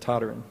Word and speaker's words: Toderian: My family pronounces it Toderian.